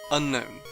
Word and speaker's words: Unown: fine okay this is literally the easiest name to get right unknown the anime says unknown an unknown unknown this unknown that unknown Pokémon Battle Revolution says unknown unknown just about every